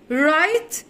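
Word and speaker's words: write: رايت يكتب، وخلي بالك ان الدبليو سايلنت مش بننطقها، والماضي منها روت.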